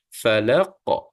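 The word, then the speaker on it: فلق: kemudian kita akan matikan Fa bukan pa Ya pa tu bacaan ejaan bukan Arab ya jadi Arab ni sebut fa fa seolah kalau kita kata F lah Fa Falaq Q ini dimatikan dan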